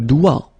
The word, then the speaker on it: doigt: Le doigt, le doigt. Okay, so don't be frightened by this G because basically you don't pronounce it and then the final T you don't pronounce it. So the only thing you get to pronounce